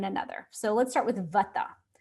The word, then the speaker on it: vata: So let's start with vata. The vata dosha people pronounce it vada.